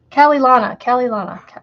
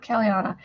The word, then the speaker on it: Calilana: Calilana, not Caliana. Calilana, Lana.